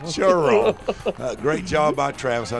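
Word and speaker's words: Cheraw: The pride of Sheraw, South Carolina. You got to say it right, Rich. It's Churaw. Churaw.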